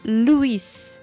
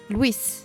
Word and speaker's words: Louis: Je m'appelle Louis. Mais les Français, d'habitude, m'appellent Louis. Ah, ok. Il y a 2 syllabes, mais les Français le prononcent en 1 syllabe.